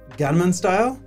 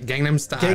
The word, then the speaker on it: Gangnam Style: And this is during the time of Gunman Style. Mm-hmm. Is that how you say it? Yeah, I think so, yeah. Yes. Gangnam Style. Gangnam Style.